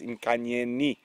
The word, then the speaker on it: Nkanyeni: So it is with the I. I have been incorrect. I do apologize. It is Nkanyeni.